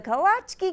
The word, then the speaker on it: kolacky: the traditional Czechoslovakian pastry the kolache at least that's how we pronounce it in Austin home to K smq but people in Montgomery Minnesota might know best they're the fruitful delicacy is called the kolache and montgomery is the kawatche key capital of the world